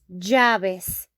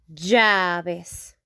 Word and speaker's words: llaves: Here we say llaves, llaves, llaves. Like if they were a Y, okay?